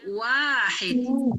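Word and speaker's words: واحد: Satu tulisannya seperti ini dibacanya Wahid Wahid WAnya panjang hya dengan ha yang pedas Wahid artinya satu kalau dibacanya Wahid hanya panjang artinya satu-satunya Jadi sekarang pelajaran kita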